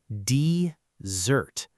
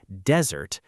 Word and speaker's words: dessert: It is dessert. The stress is on the second part of the word. Do not say desert, because a desert is